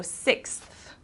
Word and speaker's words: sixth: sixth book okay so emphasis on that th sound which is difficult for some people the th so 6th okay schedule a schedule